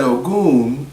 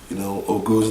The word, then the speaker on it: Ogun: Ogun's name starts with OG. You hear Ogun in the way the G-U-N is pronounced, and his name is Goon.